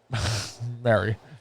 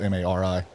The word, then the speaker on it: Mari: Mary. Her name is spelled M-A-R-I. I know, it should That's be Mari. fucking Mari.